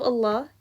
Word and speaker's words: Allah: which is always flat, except in Allah's name, the lam becomes full. But the exception to this exception is that when the name of Allah is preceded by a kasra, then the lam is pronounced in its flat way again.